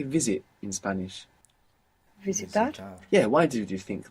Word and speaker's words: visitar: Visitar, visitar. If you're not comfortable with the Visitar. soft P, just pronounce a V.